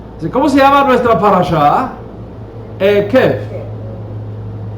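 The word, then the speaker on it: עקב: La misma palabra, se pronuncia distinto. La misma palabra, Akef. ¿Cómo se llama nuestra parashá? Ekef.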